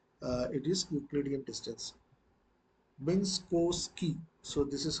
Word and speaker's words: Minkowski: Minkowski. So this is how we are going to pronounce.